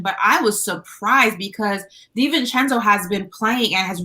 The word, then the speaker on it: DiVincenzo: You've said this man name wrong for like 4 years straight. Dante DiVincenzo.